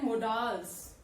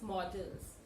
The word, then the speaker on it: modals: People tend to pronounce it as modals. This is not modals. This is models.